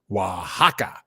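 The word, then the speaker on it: Oaxaca: Aka is is actually pronounced Wajaka.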